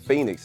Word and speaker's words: Feniks: the pronunciation of Phoenix so that's how you pronunciate Phoenix is the way I spell it l n